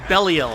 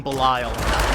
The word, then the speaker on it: Belial: introduced herself she is she pronounces it bellel I always thought you pronounced that name bile the mother of Lies